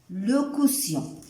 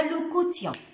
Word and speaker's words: le quotient: كنسميها ردوا البال الاسم ديالها لو كوسيون. ردوا البال كيفاش كنكتبوها وكيفاش كنطقوها. راه ما كنقولوش ليها لو كوتيون. دونك لو كوسيون.